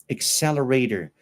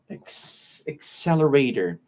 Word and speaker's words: accelerator: how you pronounce accelerator accelerator Anthony when we have double c words with double C we say C it's like the sound of KS accelerator like accessories does that make sense